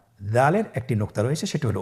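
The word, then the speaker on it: دال: উচ্চারণ করার সময় অবশ্যই 3 আলিফ টেনে পড়তে হবে।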